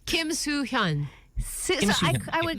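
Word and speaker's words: 김수현: Kim Soo-hyun.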